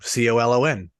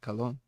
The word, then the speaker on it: colon: that spell it's colon c-o-l-o-n but he's just saying it how they would say it cologne but it's actually the colon funny yeah revenge of